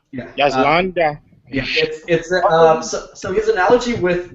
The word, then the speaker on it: Landa: I think it's how it's pronounced. Yeah, it's Landa. Yeah. Yes, Landa.